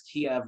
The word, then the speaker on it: Kiev: to look it up i guess kiev was the traditional russian way of pronouncing it and so since it's